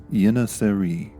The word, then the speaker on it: Yeŋiçeri: If you're feeling brave, you can use the Turkish pronunciation Yeŋiçeri.